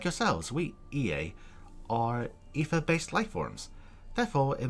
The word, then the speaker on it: Ea: When the vibration of vocal folds, was still very required to convey our thoughts and intention, EA, I believe, was the pronunciation used when referring to our people.